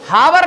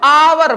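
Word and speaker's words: hour: देखो हावर नहीं पढ़ते इसको आवर पढ़ते हैं।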